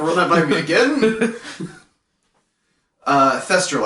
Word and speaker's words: thestral: Thestral, I believe, is how it's pronounced. Yep. I could be wrong, but Google Translate hasn't failed me yet. So, Thestral.